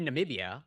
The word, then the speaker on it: Namibia: I have been mispronouncing it. Namibia.